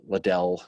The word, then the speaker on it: Liddell: big names obviously claiborne breckenridge um you know liddell see i said it right that time yes